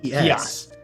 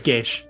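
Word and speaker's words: Geas: Oh, Gias. Gios. It's Geish. That's how it's pronounced. Geish? I thought it was Gios. Yeah. No, it's like Irish or like some Scottish.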